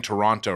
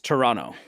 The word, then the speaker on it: Toronto: how do you say Toronto they got mad at me for saying Toronto wrong yeah because you're saying the T it's Toronto Toronto Toronto Toronto yeah yeah they